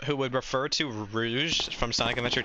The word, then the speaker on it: Rouge: a friend um who would would refer to Rouge from Sonic Adventure 2 as Rogue and and he would always be like her